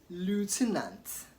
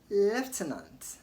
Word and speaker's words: lieutenant: Did you say lieutenant or lieutenant? It should be noted that in American English they pronounce the word as lieutenant, in British English as lieutenant.